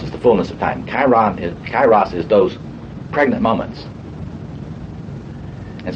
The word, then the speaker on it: Kairos: Kairos. Okay, can I spell that right?